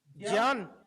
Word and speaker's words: ज्ञान: सो ज प्लस य प्लस आ प्लस न प्लस अ सो ज्ञान।